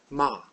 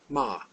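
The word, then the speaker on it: מה: is ma ma again this is a good one to show that H at the end of a word not being just a vow character here it just shows that there's an a sound and the word means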